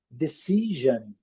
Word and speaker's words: decision: Nós falamos vision, eles falam vision, esse som, vision, decision, decision, decision.